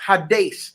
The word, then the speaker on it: Hades: You probably call it Hades, but it's actually pronounced Hades, and it's spelled H-A-D.